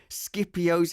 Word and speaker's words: Scipio: Scipio's helmet she has put on her head. Scipio. Huh? Scipio. Is that how it's pronounced?